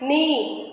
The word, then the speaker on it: knee: So K is silent. Knowledge, knife, knee, night. In all these words, K is coming before the letter N. So K will be silent in this case.